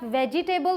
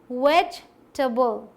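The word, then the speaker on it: vegetable: ये क्यों पीछे रहेगा, इसे आप वेजिटेबल बोलते हैं, जो कि गलत है। क्या बोलना है आपको, वेजिटेबल, वेजिटेबल, वेजिटेबल, वेजिटेबल, ठीक, जल्दी से बोलना है, टबल, ऐसे।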